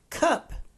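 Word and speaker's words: Kup: In the movie, they pronounce it cup, like the drinking vessel.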